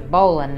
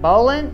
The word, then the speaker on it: bowline: Big controversy, is it bowline or bowline? Let's see what the dictionary and Alexa say. Bowline. I pronounce that bowline.